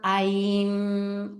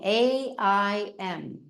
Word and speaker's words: Aim: And here, imagine the sound aim, aim, A-I-M, but it's pronounced A-E-M, so aim, aim, and feel that aim resonating in the midbrain.